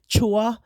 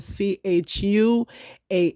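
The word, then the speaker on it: Chuah: formerly called Eve but I don't call her by Eva call her by the Hebrew name Chua my pronunciation go looking up a c h u a h Chua um yeah something happened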